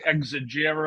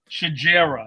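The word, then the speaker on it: Xigera: now it's spelled x-i-g-e-r-a and I was thinking exegier or whatever and it's like shajera yeah something he was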